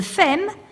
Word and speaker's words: femme: communities in urban centers, a femme, pronounced and sometimes spelled femme, F-E-M, rhyming with gem, is a female homosexual who is trying to embody the ideal feminine type.